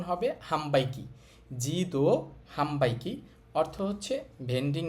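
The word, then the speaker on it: 販売機: পু পে পো তাহলে ন এর পরে বি এম পি থাকলে ন এর উচ্চারণটা ম হবে হবে এখানে খেয়াল করেন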